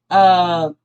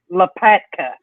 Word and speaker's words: Lopatka: It is Sharon Lapaka. I can't pronounce her last name. Look, I watched 3 videos. Hang on, let me. But I tweeted out. It's Lopaka. Sharon Lopatka.